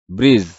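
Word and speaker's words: bridge: এর উচ্চারণ হয় না ব্রিজ কারণ এটা ডি এর উচ্চারণ হয় না সাবজেক্ট বা পার্ট বাক্যের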